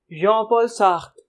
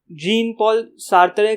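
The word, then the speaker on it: Jean-Paul Sartre: ये कहना चाह रहे थे जॉन पॉल सार्त्रे अपनी फिलॉसफी में।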